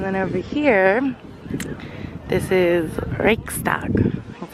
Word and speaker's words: Reichstag: And then over here, this is Reichstag, that's how you say it.